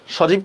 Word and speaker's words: সজীব: সজীব কি হবে? খুবই ইজি, দেখেন তালব্যস্য জরস্কার জি বহসন্ত, সজীব।